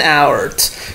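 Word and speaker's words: hour: Igual pasa con la H, ¿no? Pero la pronunciación es our, so pay attention to the pronunciation.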